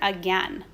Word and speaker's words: again: What might be tricky about the word again? Okay? You might think that that AI is pronounced as A. But in this word, these letters stand for the sound again.